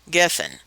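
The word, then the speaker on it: גפן: It's spelled Gimel, Pei, Nun, geffen. The Pei sounds like a P or an F, and it's Strong's number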